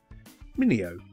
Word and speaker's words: Minino: This is Minio is the right pronunciation, I think.